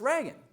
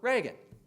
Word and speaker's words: Reagan: I've got this problem do you happen to know how this guy's name is pronounced and he shows him you know Ronald r e a g- n and the guy walking the dog says oh yeah it's Reagan this Ronald Reagan Reagan now you're sure it's